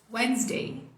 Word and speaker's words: Wednesday: Wednesday. Uma vez que você conta pro seu cérebro que nem o D nem o S são pronunciados, super fácil. Sua vida melhora do dia pra noite.